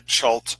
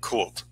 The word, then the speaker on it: Chult: So now this Bantu is the nation that I'm operating in is pronounced variously, either Chult or Kult. I prefer the concept of the Chthonian or Cthulian pronunciation of Kult.